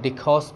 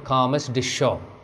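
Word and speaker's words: Carmes-Deschaux: देखिए आप इसको वैसे तो आप डिखॉस पढ़ सकते हैं इसको, लेकिन आप इसको ऐसे पढ़िए कॉमस डिशो, कॉमस डिशो, कुछ फ्रेंच का प्रोनाउंसिएशन लेते हुए, एट 12 o'clock, ध्यान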